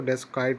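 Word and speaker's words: desiccate: वैसे इसको और अच्छा प्रोनाउंस करेंगे तो डेस्काइट आएगा।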